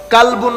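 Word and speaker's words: قلب: কালবুন মানি কুকুর, আরবির মধ্যে কাফ লাম বা কালব, আর একটা হচ্ছে কলব, এটা হচ্ছে কফ দিয়ে কলব। তো আপনি কলবুনকে কালবুন বললে কি হয়ে যাবে? কুকুর হয়ে যাবে।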